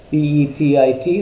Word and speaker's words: petit: The word petty was first introduced by the jurists from the French word petit, P-E-T-I-T, which is pronounced as petit.